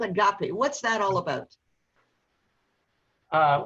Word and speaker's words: agape: about the concept of a gape a-g-a-p-e does that translate from what you're talking about now or is that a completely different construct uh well actually it's pronounced agape agape yeah is that where